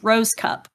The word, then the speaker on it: Rohskopf: f is in frank it's pronounced rose cup at least that's what my parents told me so what that's